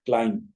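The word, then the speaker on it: climb: मिसाल यह है कि बी अक्सर जब आखिर में आते हैं वर्ड्स के आप देखि आपके स्क्रीन में मिसाले दी गई है दो मिसाल दी गई है Kline C एल आई एम बी चे जा के यहां बी लिखा जा रहा लेकिन इस को पढ़ा नहीं जाएगा इसलिए ब्रैकेट के अंदर उसके तल को भी लिख दिया गया क्लाइम क्लाइम अगर हमने कहा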